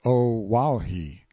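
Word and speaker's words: Oahu: i named him after this island o'ahu pronounced oh wow he the first gate he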